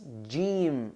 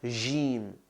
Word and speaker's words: jim: Very common mistake that a lot of people make is pronouncing the jim as j, right? Got to remind people sometimes that this is Arabic, not French. Je m'appelle. Anyway. So it's jim, not jim.